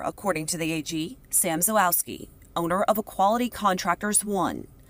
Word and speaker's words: Zalewski: How do I pronounce the last name? Zawoski, Judge. Zawoski.